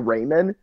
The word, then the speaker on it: ramen: And he was like, "Dude, it's pronounced ramen."